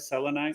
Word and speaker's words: selenite: Selenite. Am I pronouncing it right? Selenite?